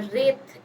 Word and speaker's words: wraith: रेत का मतलब होता है, रेत इज the pronunciation, W silent होगा यहाँ पे.